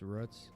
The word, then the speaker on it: Roots: some but it's spelled Roots but it spells Roots pronounced ruts I think they say ruts can we talk more